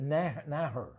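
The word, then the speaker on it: Naeher: Her name is Alyssa Naher. Okay. I think that's how you pronounce it.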